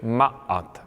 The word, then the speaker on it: Ma'at: E Osiride poggia i piedi su una pedana e la pedana stessa ha la forma di un geroglifico e questo geroglifico si legge Ma'at, che significa giustizia.